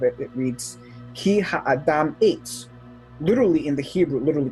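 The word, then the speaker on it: עץ: word, which is tree, which in Hebrew is pronounced eitz.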